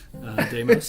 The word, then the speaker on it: Deimos: Oh, you said it right. Deimos is right.